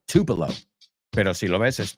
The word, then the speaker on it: Tupelo: He's from Tupelo, que no se pronuncia así, se pronuncia Tupelo.